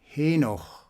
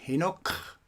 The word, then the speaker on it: Henoch: nocademian spirit form namely henoch pronounced as not enoch enoch that's a different name and was used by